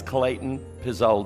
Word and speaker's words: Klayten Pezold: None of it is spelled like it ought to be, but it's Klayten Pezold.